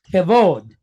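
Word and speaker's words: כבוד: It does not have a dot inside, so it's going to sound like a V, has the softer sound. And it's pointed holem wa, right? So that gives us a long O sound. And then we have a dalet right here. So we have v, o, d, v, o, d, vod. All right, so kevod, kevod.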